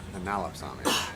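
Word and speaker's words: Enallopsammia: Analopsamia. Okay. I was trying to put an extra syllable in there.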